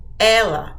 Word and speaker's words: ela: you say or Ella listen to the pronunciation of Ellie Ellie it's a closed e era it's an open e Elie Ella e okay